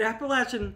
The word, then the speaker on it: Appalachian: An Appalachian is somebody from Appalachia.